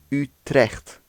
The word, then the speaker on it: Utrecht: is Utrecht Utrecht Utrecht and again you have the CH making the same the you isn't Utrecht as many people ourselves and others say but you it's the mouth is a lot more open when you're saying it ooh you deaf youth